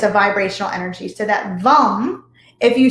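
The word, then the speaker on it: Vam: the root chakra is vom so it's spelled v-a-m but it's pronounced so it's kind of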